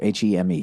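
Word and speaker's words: heme: I had a strong suspicion early on that, I don't know how to say it, H-E-M-E, hem, would be the magic ingredient for flavor. Not hemp, said Brown.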